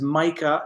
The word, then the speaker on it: Micah: Nick Pham, and now I know how to pronounce his name is Micah, and I know how to pronounce it now because it's like Mike with an A at the end.